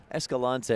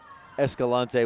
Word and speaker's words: Escalante: s Kalani s gallant Escalante is my preferred pronunciation I think the Mokey's